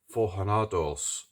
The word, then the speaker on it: Forjados: Pistones Forjados. It's a H, isn't it? J is pronounced as a H in Spanish.